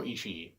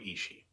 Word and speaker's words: Ishii: He's got 2 I's at the end of his name, and I've heard people pronounce it both ways, so I'm going to go with Ishii.